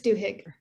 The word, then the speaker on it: Duhigg: with this book charles i'm not sure how to pronounce his name duhigg it's duhigg i used to work